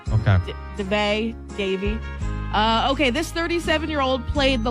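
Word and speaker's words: Daveigh: Davy.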